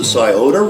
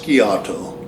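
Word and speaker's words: Scioto: he traveled up the sioda river and you might hear it pronounced skiato but he traveled up the sioda river till it met the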